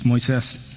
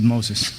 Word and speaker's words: Moises: It's Moises, not Moses.